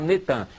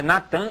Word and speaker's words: Natan: No dia 4 de novembro de 2002, lança o nome do ex-primeiro-ministro de Al-Shorur de Israel, Natan, é Natan, eles já fizeram o sincretismo, botaram Netan, mas é Natan Yarro.